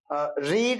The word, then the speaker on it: read: ईट, अच्छा, रीड, रेड, रेड spelling READ होती है कि पढ़ते रेड है।